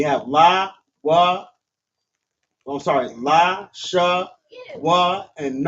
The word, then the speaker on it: Lashawan: So it's pronounced la sha wan.